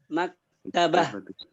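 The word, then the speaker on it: مكتبة: Maktabah. Oh, ya. Beda. Hampir mirip itunya pengucapannya, tapi ada tanda perempuannya, tak marbuton di situ.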